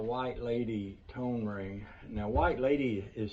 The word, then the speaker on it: Whyte Ladie: a vega style white lady tone ring now white lady is spelled w h y t e l a